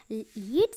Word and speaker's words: lead: First का है pronunciation लीड, second का प्रोनाउंसिएशन है लेड.